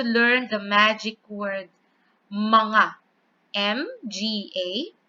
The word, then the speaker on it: mga: M-G-A. It's pronounced as mga. Not maga, but mga.